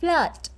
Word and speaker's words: flood: Dấu ớ thì mình đọc giống như là chữ ơ và mình mở rộng miệng flood.